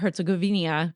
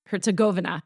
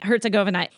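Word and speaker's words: Herzegovina: The buzz on Bosnia Herzgovenia. I never say it right. Herzgovena right that's how you say it. Yeah. Yeah. Something like that. Yeah. You're saying it right. Herzgovena.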